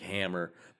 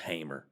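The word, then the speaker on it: Hamer: In the 1967 movie Bonnie and Clyde, they called him Frank Hammer, but it actually he was pronounced Hamr.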